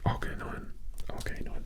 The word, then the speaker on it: Arcanine: Okay, Magma is a good Pokemon, and Arcanine, that's how you say it.